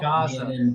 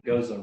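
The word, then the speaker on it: Gose: I know there's still people that pronounce it wrong. Goza. Oh gosh. All kind of crazy things that they do. Bobby, it's Goza. Shameful. Gaza. Gozy, Gaza, all kind of stuff.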